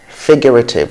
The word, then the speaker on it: figurative: Figurative, not figurative. Figurative.